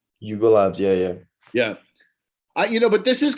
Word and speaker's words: Yuga Labs: Yuga Labs? Yuga Labs, yeah.